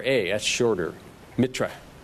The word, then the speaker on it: Mitra: r a s uh if you want to spell it in Indian it's MIT T R A that's shorter Mitra Mitra or mithis also it was it was the